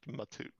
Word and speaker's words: Matu: Is it Am I pronouncing So you don't hold on to the M. It's just Matoot.